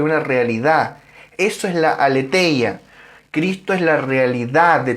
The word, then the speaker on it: aletheia: Verdad allí es el griego aletheia, o tal vez se debería pronunciar más como alicia o algo así. Bueno, aletheia para los amigos.